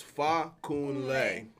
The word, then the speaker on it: Fakunle: Nigerians pronounce it because the emphasis is on that ah so I used to